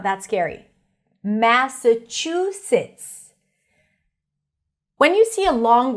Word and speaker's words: Massachusetts: Massachusetts. When you see a long word, just always focus on the primary stress. In this case, it's chew, chew, chew.